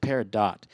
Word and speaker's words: peridot: do you say this uh-huh and they said peridot so and they would know they could the